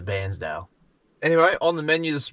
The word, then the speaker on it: Bairnsdale: I actually found out from one of the locals that's how they pronounce it, as Bairnsdale.